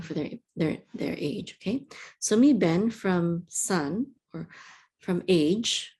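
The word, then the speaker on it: מִבֶּן: So this is a mem with a yud, mem with a chirik. This is me. And then a bet with a segol and the nun sofit says ben, mi ben.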